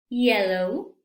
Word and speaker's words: yellow: la vocal Y entonces aquí es hielo y Hello no hielo no que Entonces vamos a pronunciar estas palabras pero con sonido Yellow you Yesterday yourself you